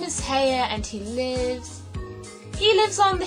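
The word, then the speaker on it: Haigha: His name is Heya." He pronounced it so as to rhyme with mare.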